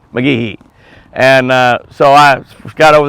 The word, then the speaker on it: McGehee: Clay, she asked Clay, and Clay said it's McGehee. McGehee. You got to you don't put a big E on the Gee, but you got to say McGehee.